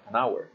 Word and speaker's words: hour: a vowel sound like hour we use indefinite article n so we say an hour so it doesn't matter if they are both spelled with h we need to pay attention to the pronunciation and same thing applies